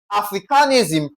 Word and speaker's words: Africanism: So, for Africanism, what is the rule? We stress what now? A.